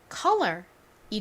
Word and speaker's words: color: 자, 이 단어를 발음해 보면요, 바로 color이 되죠.